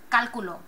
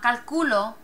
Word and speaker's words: cálculo: Ends in a vowel. Emphasis should be in this area. Cálculo. Cálculo. It's not calculo. If we stress this syllable, it would be calculo. It's cálculo. Breaks the rule. You want an accent mark there.